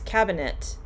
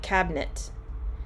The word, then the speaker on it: cabinet: word cabinet because um if you were to say each syllable james it's cabinet but in running speech it sounds more like cabinet so the it often just gets pushed out cabinet we went to